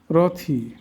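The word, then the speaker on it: wrath: Double U এর পর আরও থাকলে ডব এর উচ্চারণ হয় না। এমন শব্দগুলো আমরা দেখাই। রংলি রং রথি রথফুল রংফুল রংস রঙ্গেস্ট এবার আমরা অর্থগুলো শিখবো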